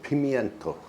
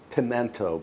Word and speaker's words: pimento: Then I want to garnish the top with a little pimeento. I know some people say pimento, but it's spelled pimento. So that's how I pronounce it.